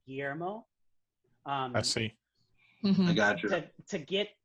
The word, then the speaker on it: Guillermo: like i say but the pronunciation of my name is the double l's are kind of a y but that's hard for